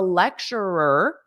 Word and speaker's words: lecturer: also say lecturer a lecturer perhaps a difficult pronunciation repeat after me lecturer because you have at the end lecture and then you add another ER lecturer repeat after me lecturer